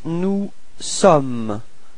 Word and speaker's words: sommes: Then for nous, you've got nous sommes. Okay, final S is not pronounced. Nous sommes. Repeat.